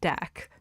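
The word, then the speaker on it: deque: Um, so that's why I say deck because from my from what I was told from people I trust to know what they're doing.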